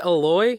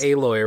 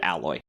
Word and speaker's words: Aloy: pronounced alloy isn't it aloy oh aloy right right yes instead of how I've been pronouncing it my whole life which was like the word alloy I think makes sense